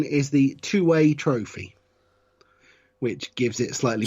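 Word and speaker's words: Tuwaiq: I don't believe you pronounce the Q. Is it two-way? Two-way. The Q is at the end, so I believe it is either two-wake or just two-way.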